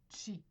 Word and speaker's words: qi: Donc le chi qui se prononce, mais pas qui se prononce, excusez, qui s'écrit soit K-I ou Q-I, chi.